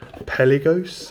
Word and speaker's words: Pelagos: this bad boy up this is the tudor peli ghost and that's that's my pronunciation and that's how i'm sticking to it another box putting